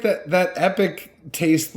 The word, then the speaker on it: Epoch: is the epoch rye it's spelled with an O instead epic I'm sure you say epic but it's EPOC H epic yeah no I'm just